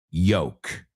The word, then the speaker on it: yolk: But they're both pronounced yoke.